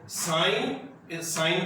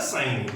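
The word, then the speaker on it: sine: तो देखो साइन को साइन ही बोलते हैं, इसको प्रोनाउंसिएशन भी इसका बेटा साइन ही रहता है, ठीक है, सिन नहीं होता। बहुत बच्चे इसको सिन थीटा रीड करते हैं, ठीक है, इसको सिन नहीं पढ़ना है, इसको क्या पढ़ना है, साइन। इसको प्रोनाउंसिएशन जो है साइन थीटा ही है।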